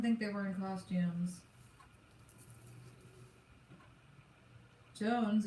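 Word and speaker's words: J'onzz: Jones is pronounced like Jones, not Johns, by the way, says Wolverine.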